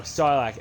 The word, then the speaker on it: Sarlacc: No, Sarlacc. S-A-R-R-L-A-C is how you spell that creature's name.